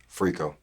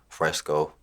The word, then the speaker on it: Freco: Freco. Like Rico with an F in front of it. So Freco, yeah. Do people mispronounce this? All the time they call my shit Freco, Fresco.